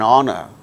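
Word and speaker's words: honour: instance who are instance words beginning with a silent hitch in the words our and our and honor an honest man an air an honorable man in all these cases these words begin with H which is a consonant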